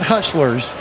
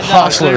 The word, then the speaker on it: Hostlers: HOSTLERS is how you say this, right? Not hustlers. Yeah, HOSTLERS.